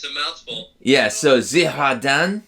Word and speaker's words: Girardin: Yeah, so Girardin. Girardin, you got it. So Girardin. can I say Girardin, or is that just No, not? that would be a faux pas. Girardin.